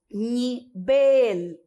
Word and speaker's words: nivel: Seguindo, nós vamos ter nivel. Em português, nível. Bem facinho.